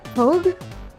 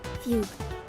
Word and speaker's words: fugue: Fog. Fogue. What? How do you pronounce that? My mind automatically goes to an to a bag. Fugue. A fugue. Okay. Fugue.